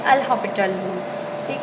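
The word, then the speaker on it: L'Hôpital: Spelling कुछ इसकी हॉस्पिटल की तरह होती है, बट इसे हॉपिटल पढ़ते हैं।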